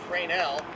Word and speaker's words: Fresnel: word f-r-e-s-n-e-l people pronounced in various ways but freinell is the correct prince pronunciation was developed in 1820 by a fellow